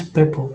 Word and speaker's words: Peppo: Is it Pepo, Peppo? Oh, you're muted. It's Peppo, more natural, but don't worry, I won't take it.